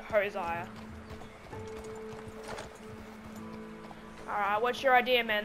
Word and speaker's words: Hosea: Josiah. I think Arthur pronounced it Josiah, but I pronounce it Hosiah.